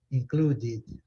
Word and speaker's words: included: Eu falei com vocês, as palavras, o passado dos verbos terminados com o som de T ou D, sempre vai acrescentar a sílaba. Isso aí, certo? Sempre vai acrescentar. Isso vocês têm que ter em mente. Quando terminar em T, em D, né? Qual que é o verbo? O verbo é include, certo? Não termina com D? Então, terminou em T e em D, você tem que acrescentar uma sílaba.